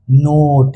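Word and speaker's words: note: तो याद रखना इ जो है एक सपेरा की तरह काम करता है जो कि वोवेल का यानी कि नागिन का असली रूप दिखाता है और उसे उसके असली साउंड में लेके आता है। तो एन ओ टी नॉट और एन ओ टी ई नोट नॉट मतलब होता है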